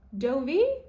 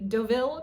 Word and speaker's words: Deauville: And finally, the last bag that I still think is a great price is the Dovie or the Deauville tote, depending on how you want to say it.